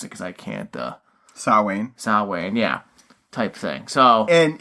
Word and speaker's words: Samhain: And that's what this, tying back to the whole little rant Loomis went on about, and you can pronounce it because I can't. Samhain, yeah, type thing.